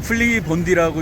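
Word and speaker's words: Flybondi: 예를 들어서 플라이 본디의 경우에 플라이 본디라고 그러면 못 알아듣습니다. 이 사람들은 플리 본디라고 읽거든요.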